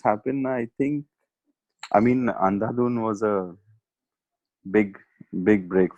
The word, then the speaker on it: Andhadhun: about that has happened, I think I mean Andhadhun was a big big break for me. Did I say it correctly? Andhadhun? Yes, you did. Andhadhun?